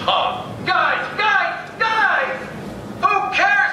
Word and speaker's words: Han: It's pronounced had. Says who? Lando Calrissian, that's who. Roll the security footage. That's too just to say had. See? Yeah, but that doesn't count. He's being choked by a Wookiee. You're right. Here he is, not being choked by a Wookiee. Come on, Dan, old buddy, don't let me down. Well, then Lando is wrong. It's pronounced Han.